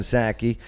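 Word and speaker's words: Psaki: house press secretary jen sackey and plus she has a silent p in in her last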